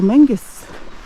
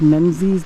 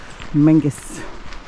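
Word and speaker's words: Menzies: tennis and the second day we visited Castle Mangus it's spelled like it's pronounced menes but it's Mangus I'll put a few footages from our visit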